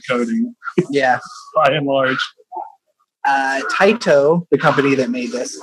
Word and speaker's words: Taito: T-A-I-T-O. I would say that's Taito. Right. I mean, if it's a Japanese company, you would pronounce all of the vowels out. So it would be Taito.